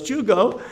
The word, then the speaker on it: Tycho: Everybody knows Chugo. And he writes it down. It's Tycho. So it is Danish. And that's how you pronounce Tycho, Tico, Chugo.